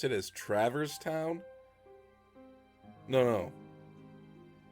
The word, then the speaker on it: Traverse Town: I always pronounced it as Traverse Town. But, I think I heard Goofy once call it Travers Town. I called it Traverse, he called it Travers. I'm like, oh, it's Travers Town.